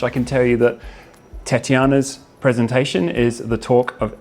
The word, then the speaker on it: Tatyana: your name right there yes Tatiana is perfect okay and surname wise